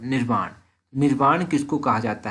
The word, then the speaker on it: निर्वाण: निवारण किसको कहा जाता है ये भी आप याद रखिए। निवारण नहीं, एक्चुअली इसकी प्रोनाउंसिएशन है निर्वाण।